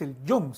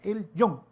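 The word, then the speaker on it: Elyon: No es Elión, es El Yon, se pronuncia El Yon, que significa Dios Altísimo.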